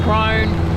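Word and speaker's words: Krone: silage round ber well Kun I think it's pronounced crone uh goal um case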